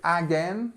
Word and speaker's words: again: say uh again okay so remember the the strength of the word is on the second syllable and the first part of the word is our famous schwar sound again okay already already